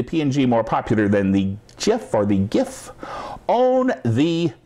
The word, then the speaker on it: GIF: than GIF or GIF some people pronounce it gif which I guess Technic is probably more correct but I got to pronouncing it gif a long time ago and people say but that's peanut butter yes I like peanut